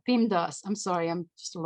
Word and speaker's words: PEMDAS: all over the place the way you pronounce beam does is M first then D because so happens we cannot pronounce two letters at the same time but that causes issues